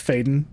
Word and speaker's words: Faden: So it's Faden. Jesse Faden.